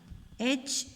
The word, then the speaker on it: hedge: Hedge, hedge. Hedge. D is silent here, look.